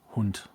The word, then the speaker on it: Hund: Hound, sort of, but it's pronounced differently. Yeah, you aren't wrong. Something's different with the vowel sound, and I don't remember what. It's Hund.